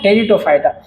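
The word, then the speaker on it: Pteridophyta: टेरिटोफाइटा। पी से start होती है इसकी स्पेलिंग दोस्तों। टेरिटोफाइटा। पी साइलेट है यहां पे।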